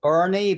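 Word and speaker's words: Boerne: It's called Bernie, but it's spelled B O N E. Bernie, thank you.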